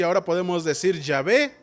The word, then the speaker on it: Yahvé: De hecho es impronunciable, lo pronunciamos Yahvé porque es la única manera de pronunciarlo.